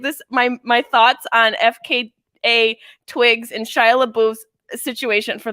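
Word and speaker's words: FKA twigs: out about shia labeouf f k a twigs yes shia labeouf [ __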